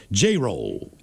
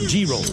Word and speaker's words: Jerrell: My name, PS, is pronounced Jay-Roll or Gee-Roll. Jerrell.